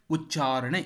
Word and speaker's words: ಉಚ್ಚಾರಣೆ: ಇಲ್ಲಿ ಕೊಟ್ಟಿರುವುದು ಸರಿಯಾಗಿಯೇ ಇದೆ ಉಚ್ಚಾರಣೆ ಎನ್ನುವಾಗ ಚ ಇದೆಯಲ್ಲ ಆ ಚ ಕ್ಕೆ ಚ ಒತ್ತಕ್ಷರ ಅಲ್ಪಪ್ರಾಣವೇ ಇದೆ ಮಹಾಪ್ರಾಣ ಬರಬಾರದು ಉಚ್ಚಾರಣೆ ಸರಿ ಇದೆ ಶ್ರುತಿ ಮಧುಸೂದನ ಉಚ್ಚಾರಣೆ ಅಂದ್ರೆ